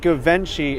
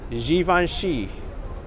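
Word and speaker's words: Givenchy: pronounce this brand yep it's not gavin she is given she and it's not dolce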